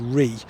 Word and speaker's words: Rea: Now, I know a few people are going to tell me that it's pronounced Ray, but according to my research, the pronunciation of this brook is Ree.